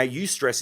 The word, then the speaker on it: eustress: eustress to distress now use stress is good stress it's spelled e you and then the word stress so you stress is